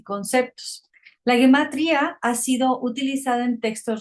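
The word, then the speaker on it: gematria: Guematría o guematria en hebreo y su transliteración es guematria pronunciado guematría en hebreo rabínico.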